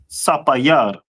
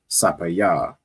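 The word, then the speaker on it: ספיר: And how would you say sapphire in Hebrew? Sapayar. Sapayar, Most High Christ. So sapphire in the Hebrew is sapayar, right?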